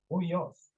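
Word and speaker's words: υἱός: Huyos.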